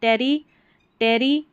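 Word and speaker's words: territory: टी ओ आर वाई इसको टरी जैसे देखिए टेरी टेरी टरी यहां पर है लेबोरे टरी यहां है डोरमी डोरमी टरी मेंडे टरी तो टी ओ आर वाई को टोरी नहीं पढ़ना टरी पढ़ देना है टेरिटरी लेबोरेटरी ठीक है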